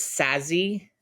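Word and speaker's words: Saszi: my maiden name is sassy s-a-s s-a-s-z-i okay and it's like it's you say it just like it looks like sassy like it's not whoa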